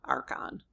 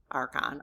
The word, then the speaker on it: Archon: Okay, so the first syllable is arc. I got that part. Um and then the second syllable is on, Archon. Or you H N. Sounds like the word on, Archon, or a soft schwa,